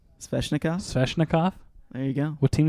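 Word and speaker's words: Svechnikov: Sveshnikov?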